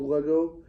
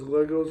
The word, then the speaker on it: Lego: it is actually called Lego everyone says Legos or a lot of people do but I want to clarify that it's not the right way to say the coming it's leg Lego because Lego is short